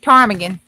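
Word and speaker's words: ptarmigan: Tarmagan. The P silent.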